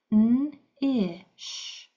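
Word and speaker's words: knish: So, we have this KN that's going to say N. The K is silent. Here we have an I. And here we have a shh. So, three sounds in this fiveletter word.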